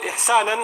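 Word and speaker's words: إحسانا: And it's mansub, the fatha on it, إِحْسَانًا, like that, it's pronounced like that, عَلَى الْإِغْرَاء.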